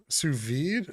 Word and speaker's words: sous vide: i'm okay with that i don't believe you pronounce the d in sous vide sous vide i i don't know